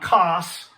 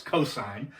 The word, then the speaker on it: cosine: Sine, cosine is not cos. If you say cos, you're not saying it correctly. It's cosine.